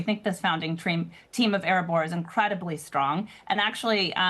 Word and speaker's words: Erebor: Now, you're in a company that is Erebor, which is all about, I think I'm pronouncing it correctly, right? Erebor is yep.